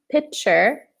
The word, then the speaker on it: pitcher: Also, interesting pronunciation of pitcher. Pitcher. Pitcher. Very similar to picture. Mm-hmm. Picture. But the T is stronger.